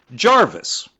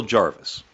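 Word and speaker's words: Gervais: No, you spell it G E R V A I S. Jer, which is Jery. Okay. Not up here. You call it Jarvis.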